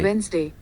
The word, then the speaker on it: Wednesday: Wednesday. Wednesday. Wednesday. Got it? So, you should correct your pronunciation.